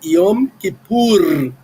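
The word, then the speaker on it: יום כיפור: Ah, mas mas eh Iom que pur. É essa que é a pronúncia.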